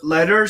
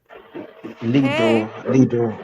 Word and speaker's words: Lidor: What's going on, Ledor? Ledor? How do you say your name, bro? Lidor. What's up? Lidor. Okay, I definitely said it wrong the first time.